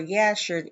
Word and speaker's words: Jasher: reading from the book of Jasher or Yasher, if you pronounce the J with a G sound versus with a um with a J sound instead of like a Y.